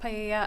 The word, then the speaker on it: paella: It's pronounced paella.